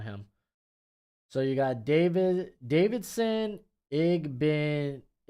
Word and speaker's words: Igbinosun: I'm pulling up my pronunciation on him. So you got Davidson, Igbinosun. Igbinosun.